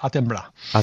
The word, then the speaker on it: Attenborough: inglés si se pronuncie se escribe attenborough vale y por lo visto se pronuncia a temblar pues tiene un reportaje